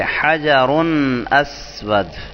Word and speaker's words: حجر اسود: اس کو یوں پڑھیں گے حجر اسود.